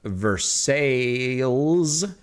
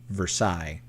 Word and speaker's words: Versailles: The neighboring borough to me is North Versailles, and it's not pronounced like the French, right? Because that'd be Versailles. But is it really pronounced North Versailles?